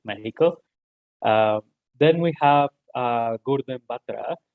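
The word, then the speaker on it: México: She's in Mexico, and she's the executive director for Codeando Mexico, depending if your first language is Spanish, we pronounce it Mexico.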